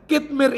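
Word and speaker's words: Qitmir: ke satu nama yaitu katemir adalah saya kuat ini bacanya kidmeer itu adalah nama anjing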